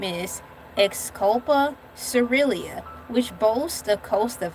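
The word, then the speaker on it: Xylocopa caerulea: The most famous blue bees is the blue carpenter bean whose scientific name is exculpa cerilia which boasts a coast of vibrant turquoise blue fuzz where they live.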